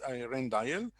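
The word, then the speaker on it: Rijndael: belgium damon and raymond and it's also called rendail rendail the ijn it's called it's pronounced rendail so the uh it was came in the usa in 2001.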